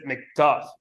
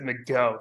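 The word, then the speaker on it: McGough: But he does not pronounce it McDuff. He actually pronounces it McGo.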